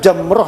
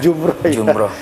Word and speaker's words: jamrah: Sebetulnya bacaannya yang benar jamroh ya Ustaz ya. Jamroh ya. Jumroh. Lempar jamroh, lempar jumroh. Ya, kebiasaan kita bilang jumroh ya. Kalau dalam fikih itu bacanya jamroh.